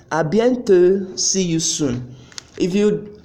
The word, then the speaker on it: à bientôt: We also have à bientôt, à bientôt, à bientôt, see you soon. If you could notice, you see that the last T in à bientôt and the last D in à plus tard, I didn't pronounce them.